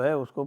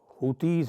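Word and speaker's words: Houthis: इसके जस्ट पहले 30 दिन तक उसने यह जो हुतीज हैं जिनको हमती कहते हैं अंग्रेजी में वैसे उनका अगर सही प्रोनाउंसिएशन देखा जाए तो वो हाउसी है तो वो जो हाउसीज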